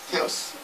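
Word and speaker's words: θεός: 피스토스 호 테오스. 테오스라고 그래요. 원래는 테오스. 이게 이렇게 그 TH 발음입니다.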